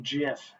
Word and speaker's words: GIF: He said it was actually pronounced JIF, not GIF.